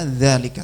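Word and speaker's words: ذلك: Ya, kayak dzalika itu tulisannya harokatnya cuma seret gini aja, tapi bacanya selalu dibaca dzalika.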